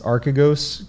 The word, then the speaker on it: Archegos: event recently of um i believe the pronunciation is archigos capital yes that's right so arcagos capital um a family